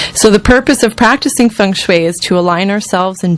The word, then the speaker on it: Feng Shui: In terms of the words Feng Shui, did I pronounce it right in the first place?